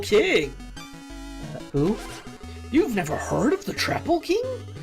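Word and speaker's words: Troupple King: who heard of the traple king have trout and half Apple pronounced like mouthful he's one of the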